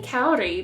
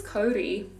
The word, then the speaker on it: kauri: new zealand kaori kodi i always say kauri but is that like white people pronunciation i guess it's kodi anyway this is a native